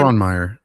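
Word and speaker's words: Frohnmayer: Fronmeer.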